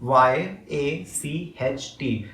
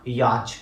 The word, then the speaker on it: yacht: know what is cruz people cannot even pronounce the word yacht that's actually written as dumb y a c h t it's not yacht it's yacht okay so people did not